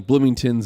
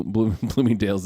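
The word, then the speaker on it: Bloomingdale's: dals I know well he keeps calling blooming tins and he doesn't know what BL blooming Dales is he keeps mispronouncing it anyway so so then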